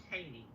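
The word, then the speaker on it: Cheyney: I believe that's what he was trying to pronounce. Yeah. Yeah. Yeah. It's called Cheney. Cheney.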